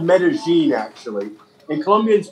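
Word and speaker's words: Medellín: my opinion is the one in it's called metazine actually and Colombians pronounced double elves as a J so whereas in Spain or Mexico it might be called many here it's called meta-gene and it's the most charming Expo in the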